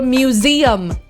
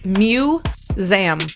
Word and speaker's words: museum: It's like I walked into a museum. It's got three syllables, people. Museum has three syllables.